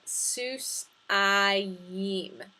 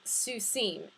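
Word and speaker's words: סוסיים: followed by a mem the pronunciation for this construction is so to put that together with the root seuss we get sus i yim yim instead of susim hear the difference susim is the masculine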